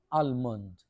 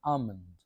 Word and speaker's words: almond: উচ্চারণটা হওয়া দরকার ছিল আলমন্ড কিন্তু এই যে এল আছে এল টা উচ্চারণ হবে না তাহলে আমন্ড আমন্ড মানে হলো কাঁচ